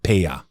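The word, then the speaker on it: Pejë: in the Paya region the serbs pronounce it patch but in Albanian it's pronounced Paya and in that region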